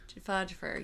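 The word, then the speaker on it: Joffer: Jafur.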